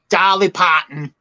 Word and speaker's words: Dolly Parton: no wait wait wait you just said her name wrong oh dolly potton there you go okay oh i didn't